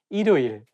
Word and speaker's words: 일요일: If you read it syllable by syllable, you can say 일요일. But when you say it as a one word, you have to connect it together and say 일요일.